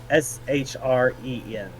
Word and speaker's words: Shren: Shren. Shren. Shren. Okay. S H R E N. Shren. Okay. Is that how you spell it or just how you say? Both.